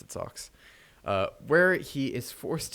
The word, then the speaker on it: SOX: sox and the in the anime that actually pronounced it socks uh where he is forced to spread obscene